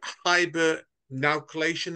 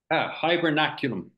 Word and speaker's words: hibernaculum: Is it hibernaclation? Is that right, or am I completely out? Hibernaculum. Nowhere near.